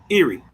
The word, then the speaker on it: Iri: Or an Iri is like the word Iri. Iri. My professor is of the opinion that in fact the vowels there were a sort of rounded I. Iri.